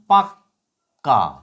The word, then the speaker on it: পাক্কা: প আকারে পা ক নিচে ক আকার পাক্কা উচ্চারণটা কিরকম প আকারে পা কয় হসন্ত ক আকার অর্থাৎ কিনা পাক্কা পাক্কা কটা কম উচ্চারিত হচ্ছে উপরের যে কটা